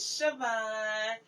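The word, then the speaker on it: Chavannes: And how you say the name in French is Siobhan.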